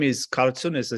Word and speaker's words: Kartson: few minutes ago it it is made of two names karma and sundro so you take the first syllable for each name and you come up with cartoon i was born in